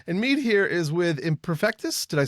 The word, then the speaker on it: Imperfektus: And Meade here is with Imperfektus.